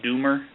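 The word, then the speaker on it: Dummer: Doomer, D-U-M-M-E-R, and again, it's pronounced Doomer.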